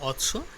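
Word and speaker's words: অশ্ম: দুটোটা উচ্চারণ কিন্তু অশ্ব, কিন্তু ব থাকলে ঘোড়া আর ম থাকলে পাথর।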